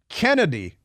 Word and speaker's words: Chennedy: out that chennedy Carter pronounces her name Kennedy Carter even though it's spelled CH and I I was